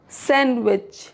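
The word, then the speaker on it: sandwich: Rule number 3, D silent before N और after N in some words. For example Wednesday, तो यहाँ पे जो डी है इसको प्रोनाउंस नहीं करेंगे। वेंसडे। Handsome, सैंडविच, सैंडविच।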